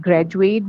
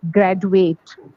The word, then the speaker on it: graduate: many pronounce it as graduate. Okay. But I call it education. J. Yes. So you're right in these two words, the last two, education and graduate, it is actually pronounced with a J.